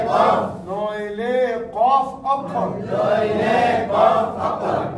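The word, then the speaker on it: كاف: তার বরাবর উপরে তালুর সাথে লাগিয়ে, পাতলা করে উচ্চারণ হবে কাফ, পাতলা করে উচ্চারণ হবে কাফ, জিহ্বার গুড়া, জিহ্বার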